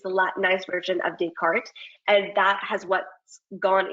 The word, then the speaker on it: Descartes: name of the actual scientist and philosopher is pronounced Descartes and because of um it becoming latinized and